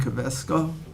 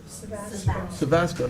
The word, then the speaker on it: Savasco: Employee Benefit Supervisor, Kavesco. Did I say it wrong? Savasco, not Kavesco?